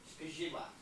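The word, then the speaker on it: skrzydła: The L with the slash through it is pronounced like a W. So it's shkizhidwa.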